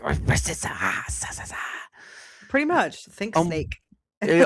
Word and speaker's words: Versyssa: But anyway, I get to have on the lovely Versissa. Is that how you say it? Yeah. You You were complaining they can't say your name. Imagine everybody butchering mine. Versissa.